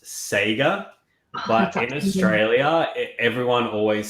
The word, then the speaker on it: Sega: it okay Hugo once they die it's actually pronounced Sega but raelia everyone always says seiga yeah it's either one whatever floats you but